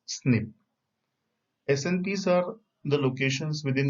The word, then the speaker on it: SNP: is single nucleotide polymorphism the short form is snp and it is pronounced as snip snps are the locations